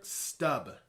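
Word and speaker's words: Stumpp: He was a German man named Peter Stubb. It's spelled like stump, but it's actually pronounced stub.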